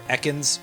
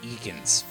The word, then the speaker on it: Ekans: Okay, it's time for Echans or depending on how you choose to pronounce it, Eans. And by depending on how you choose to pronounce it, I mean, of course, that the announcer in Pokemon Stadium pronounced as Eekans for some reason, which I don't think is attested to anywhere else in the franchise.